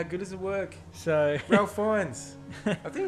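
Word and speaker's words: Ralph Fiennes: does it work so rail fines i think it's pretty cool yeah i believe so i think they say rafe fine so i've heard that ray fines sorry mate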